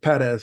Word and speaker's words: Pérez: A real great mentor, even though we're peers, Eduardo Perez. I know we should say Perez because that's really the right way to say it.